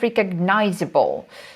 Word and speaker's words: recognizable: In this case, we can see that students may have some problems pronouncing it with the right stress, because when we come back to the verb, we can see that stress goes to the first syllable, recognize.